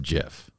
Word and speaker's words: GIF: is a gif and he shouldn't have used a g you use a j in that case is it is it